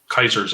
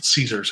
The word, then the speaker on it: Caesar: from republic to dictatorship, or Kaiser's in charge, right? So, well, Caesar's how it's pronounced today, but all Caesar has to do is take it over and then get murdered.